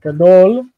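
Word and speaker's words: גדול: So the word gadol, if I'm coming back over to it, gadol has that the strong, long in the first syllable, gadol, big.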